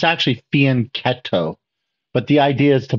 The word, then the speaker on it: fianchetto: so most people say fianchetto uh but the Italians don't pronounce it that way they pronounce it with a C Sound a k sound right so it's actually faneto but the idea is